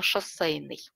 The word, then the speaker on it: шоссейный: И у меня еще было сложное слово «шоссейный». На самом деле там же произносится буква «э», «шоссейный», а пишется «е».